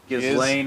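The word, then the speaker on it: Ghislaine: And that is going to include the DOJ's interview with uh how do you pronounce her name? Gizlane Maxwell. Gizlane Maxwell and videos that appear to show the inside of Ebstein's Palm Beach home.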